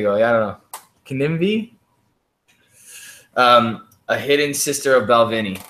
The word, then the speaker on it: Kininvie: Ask her about, I can't even begin to pronounce that word. Kinivy. It's a wonderful brand. Kinivy. There you go. Yeah, I don't know. Kinivy.